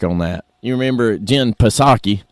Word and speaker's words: Psaki: You remember Jen Psaki? You don't pronounce the P.